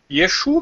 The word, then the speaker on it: Yeshua: E não é Yeshua. Escreve Yeshua, mas não sei porque lá no alfabeto deles eles pronunciam Yeshu.